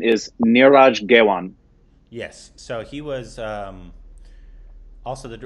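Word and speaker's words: Neeraj Ghaywan: I believe the correct pronunciation is Niraj Gewan.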